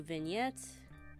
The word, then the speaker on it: vignette: next we're gonna do vignettes that's how it's pronounced I had to look it up vignette basically makes the